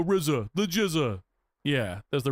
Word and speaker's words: RZA: Karinu says, "Is that how you pronounce Rizza?" I thought it was RZA. Well, because he in the songs he goes the Rizza.